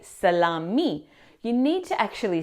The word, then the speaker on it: salami: Now the incorrect pronunciation here is the correct pronunciation is salami.